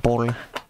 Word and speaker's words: Boll: You gotta pronounce it like Boll instead of ball.